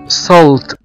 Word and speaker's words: salt: S A L T، وهنا بننطق حرف الـ A كأنه حرف O.